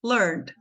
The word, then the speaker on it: learned: o que que acontece esse e aqui no meio é mudo e aqui tem som de a Então essa palavra é pronunciada learned learned learned do jeitinho que tá aqui ó le uma sílaba só então assim eu tô